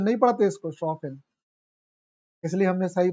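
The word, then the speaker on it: Chopin: चोपेन नहीं पढ़ते इसको। शफिन इसलिए हमने सही प्रोनाउंस किया।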